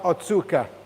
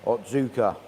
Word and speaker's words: Otsuka: got the Ki Utsuri from, how do we pronounce this one, Rad? Ki The breeder, Utsuri from Otsuka? Otsuka. Otsuka.